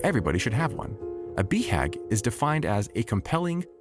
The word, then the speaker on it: BHAG: The acronym BHAG, commonly pronounced BHAG, is universal to both entrepreneurs and self-help authors.